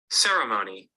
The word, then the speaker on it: ceremony: so the the the stress is in the first syllable the way I said